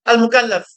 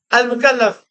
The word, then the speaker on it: al-mukallaf: Faut dire Al-Mukallaf. Faut dire quoi? Al-Mukallaf. Al-Mukallaf. Al-Mukallaf. Al-Mukallaf. Al-Mukallaf. Al-Mukallaf. Voilà. Al-Mukallaf. Il est important de prononcer cela, c'est très important.